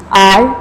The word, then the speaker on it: hour: Because H is silent there and it gives the sound of O.